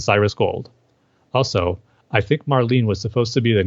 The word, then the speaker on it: Marlene: Harley as performance as Marlene and the name Marlene rhymes with Harleen yeah I agree with